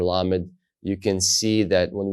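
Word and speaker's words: ל: keep going forward as la just like we have the letter L in English now in this case with the letter lamid you can see that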